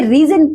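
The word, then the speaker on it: Rheson: सोनम कपूर रिया का रीजन नाम ही इसमें इतना स्टाइलिस्ट है। ब्रांड का नाम बहनों के नाम से मिलाकर बना गया है। रिया प्लस सोनम। इसे रीजन प्रोनाउंस किया जाता है।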